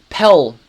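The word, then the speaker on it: Pell: me a clue is my name rhymes with Belle and there's an ll at the end um pel yes pel I mean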